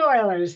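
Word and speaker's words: Euler: It's called Oilers's theorem. It's spelled like that, but it's pronounced Oiler.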